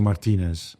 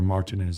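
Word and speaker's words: Martínez: even Portuguese it's Roberto Martinez or Martinez as people call him in this country no um we will say it right Roberto comes in and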